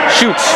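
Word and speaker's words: Schutz: way out to Schultz shoots rather SCH you TZ is the name on the back of his jersey I believe that's pronounced shoots and will shoot shoot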